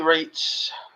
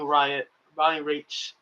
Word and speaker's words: Raitt: You have Ricky, who is currently in Bonnie Raitt's. That's a rate. Rate. R-A-T-E. It's pronounced like that. I mean, it's pronounced rate, but it's R-A-I-T-T.